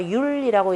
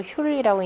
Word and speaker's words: 휼: 그 우물이 있는데도 흘지 거의 이르렀다라는, 거의 이른 것이 영미휼정이니, 또한 휼이다라고 하는 것은 두레박줄 휼자입니다. 우리말로는 아마 율이라고 이렇게 읽을 텐데요. 제가 휼이라고 읽는데요.